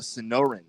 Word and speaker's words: Sonoran: It is called the Sonoran.